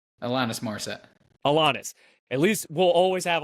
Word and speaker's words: Alanis: Alanis.